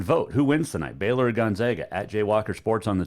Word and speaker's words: Gonzaga: to pronounce the name it is gonzaga it's not gonzaga they're not the zogs it's gonzaga really they're not the z they're the bulldog right but it's still gonzaga i'll give you my